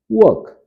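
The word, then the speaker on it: work: Raju does वर्क, Raju does वर्क। वर्क या वर्क आर थोड़ा सा साइलेंट रहेगा दोस्तों, जैसा मैंने पिछली कक्षा में भी बताया था।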